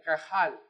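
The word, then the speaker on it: קהל: nosotros leemos aquí en hebreo es la palabra cajal se escriben con q a h a él no se escribe así es así se escribe en castellano pero se pronuncia de esta manera cajal y es la palabra que en el antiguo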